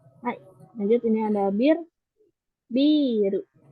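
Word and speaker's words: ビール: Mungkin hati-hati kebalik ya. Ada yang ini biru panjang kan ya. Terus lalu ada biru biru yang nggak pakai pengucapan panjang itu artinya itu bangunan. Jadi berarti minasan kebalik. Kalau yang biru itu minuman bir.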